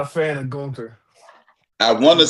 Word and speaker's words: Gunther: Gunther.